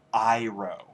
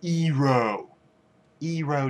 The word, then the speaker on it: Iroh: is his name is uncle Iroh okay not uncle ero ero just sounds well gay